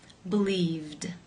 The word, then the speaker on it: believed: you pronounce this word the infinitive form to believe ends in the V the consonant sound which is voiced therefore it is again case two where the Ed D is pronounced as the D sound believed how do you pronounce